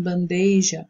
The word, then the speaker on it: bandeja: se acrescenta uma letra, por exemplo, em bandeja, o i que não existe, ou então ao deslocamento da sílaba tônica, aquela que é mais forte, no caso, em gratuito, né?